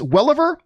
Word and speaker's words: Welliver: One very cool thing for me was seeing Titus Welliver. Is that how you pronounce his last name?